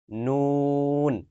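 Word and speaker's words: ن: বাংলায় ন যেমন উচ্চারণ করি ঠিক একই জায়গা থেকে একই ভাবে উচ্চারিত হবে নুন। এটা কোনো পার্থক্য নাই।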